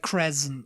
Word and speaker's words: crescent: It's like crescent, you know, with Crescent. a Z sound.